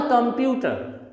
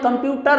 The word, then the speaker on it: computer: Switch on the computer, not computer. इसे हम computer नहीं कह सकते, it is pronounced as computer.